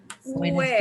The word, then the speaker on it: buenos: it's a buenos, and es importante. It's important that that's an O sound at the end.